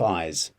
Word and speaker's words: eyes: I definitely have eyes. I definitely have eyes. How do you say ice? Ice is with the s sound at the end. Eyes with a Z.